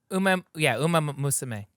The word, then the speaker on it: Umamusume: Umamusume.